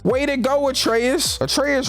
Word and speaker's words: Atreus: to go with treyas atreus rhymes with Petraeus cause his ass and